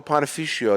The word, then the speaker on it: panificio: No, we go to a panificio.